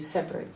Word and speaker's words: separate: How many syllables in the verb? Separate. Yes, 3. And an adjective? 2.